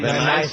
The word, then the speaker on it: Van Nuys: of uh van what how do you say van nuys nice california nice california it's a guy look at